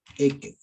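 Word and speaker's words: עקב: La parashá se llama Ekev. Así se pronuncia.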